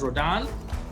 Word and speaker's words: Rodin: So Auguste Rodin, although it's written as Rodin, it's pronounced as Rodin.